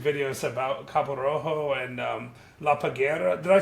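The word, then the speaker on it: La Parguera: It's I've made some YouTube videos about Cabo Rojo and La Paguera. Did I say that right? La Paguera.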